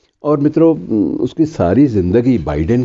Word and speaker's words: बाइडेन: के बाइडेन जो हैं, कुछ लोग उनको बिडेन भी कहते हैं, कुछ लोग बाइडेन, दोनों उच्चारण चलते हैं, बाइडेन सही उच्चारण माना जाता है, कि 77 साल की